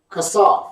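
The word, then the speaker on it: חֲסַף: The word used for clay in this verse is kasaph. It's spelled Chasaph. Chasaph. Hebrew number is 2635. Kasaph.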